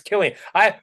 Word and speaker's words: Cillian: It's Killian. For some reason I always thought Killian was a K. I thought it was like a different pronunciation.